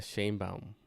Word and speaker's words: Sheinbaum: I think it's Shane. Well, in English, in Spanish, sorry, it's Claudia Sheinbaum.